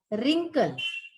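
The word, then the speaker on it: wrinkle: में ट्विंकल स्प्रिंकल रिंकल इसमें डब्लू जो है ये हमारा साइलेंट है इसको याद रखिएगा तो फिर से बोलते हैं ट्विंकल स्प्रिंकल रिंकल next word star scar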